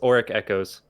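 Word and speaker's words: Auric Echoes: can't spell it just for the name it's oric echoes okay and how do you spell it for anyone that might be listening a-u-r-i-c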